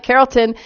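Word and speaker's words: Carrollton: now I'm in a town called is it Carolton woohoo I said it right Carolton and it is the place for Operation Kindness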